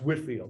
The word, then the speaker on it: Whitefield: And so he and his brother Charles, along with a friend of theirs named George Whitfield, were all part of this movement. Whitfield is spelled Whitefield, but it's pronounced Whitfield.